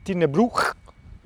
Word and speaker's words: Tighnabruaich: Oggi ti porto vi porto a fare l'ultima parte di Tin Brew, si dice così, eh si pronuncia così, che è la parte sud ovest.